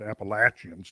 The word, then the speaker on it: Appalachians: range Eastern United States the Appalachians Appalachians to use the local uh pronunciation the Appalachians which I think go